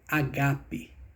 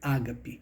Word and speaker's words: agápe: escrita da palavra Ágape tem a acentuação no segundo Alfa portanto é agape e não Ágape a pronúncia correta Isso é o que